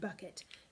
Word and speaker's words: bucket: Okay, so the stressing comes on the buck, not the et. Therefore, your accent is going to be on the first syllable of the word bucket.